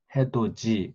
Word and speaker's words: 해돋이: 이게 뭐 국외음화 현상도 해돋이 그러면 원래 앞에 해돋이에 맞추는 게 아니라 해돋이 발음으로 맞춰서 HAEDOJI 이렇게 표현한다.